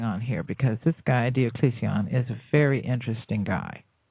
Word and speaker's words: Diocletian: This is Diocletian, or Diocletian, as it's more correctly pronounced.